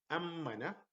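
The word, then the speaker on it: أمَّنَ: Amina, amina, amina is to be safe, as opposed to ammana. Ammana, see the pronunciation is different. Ammana. Here, amina, like one word, there is no syllables, only one syllable. Here, ammana, like two syllables. Ammana, as if I am having two M's, but in reality I have one, but the stress on the shadda makes it like two M's.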